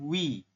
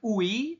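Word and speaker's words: ㅟ: vokal I seperti ini kita bacanya bukan u Tapi dibacanya langsung Wi bukan UI Tapi Wi bisa bisa ya oke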